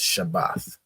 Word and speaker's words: Shabbath: here sha AA and a right so it's pronounced shabbath right shabbath not not um not Shabbat Shabbat